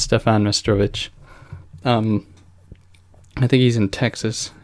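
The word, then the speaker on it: Meštrović: It might be pronounced Stefan Mestrovich.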